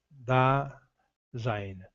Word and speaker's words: Dasein: Dasein, pronúncia alemã, Dasein, principal na filosofia existencialista de Martin Heidegger.